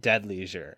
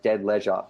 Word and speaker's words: Dead Leisure: So first of all, I feel like we in Australia, we pronounce leisure like leisure, leisure. So it's like dead leisure. So like it sounds strange for when you say dead leisure.